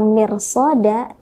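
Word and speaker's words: مرصادا: Maka teman-teman, membaca kata mirsada tidak tepat jika kemudian kita membacanya dengan tipis. Ro sukun ketika didahului huruf berharokat kasroh, kemudian bertemu dengan huruf isti'la yang harokatnya fathah, maka ro sukun di sana harus dibaca dengan tafkhim.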